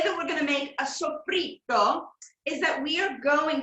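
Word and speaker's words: soffritto: Sofrito. But the Italians don't say it like Sofrito. They pronounce it like there's two T's. Sofrito.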